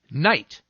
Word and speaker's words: knight: sir it's just that sometimes i'm silent so i do nothing but sit there give me some examples knight knee knife knock knock